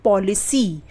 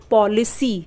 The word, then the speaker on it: policy: उसी तरीके से POLICY, तो इसमें सी के आगे क्या है? वाई है ना? तो इसलिए सी का उच्चारण स होगा। हम क्या पढ़ते हैं? पॉलिसी। स पे बड़ी की मात्रा आई ना, पॉलिसी।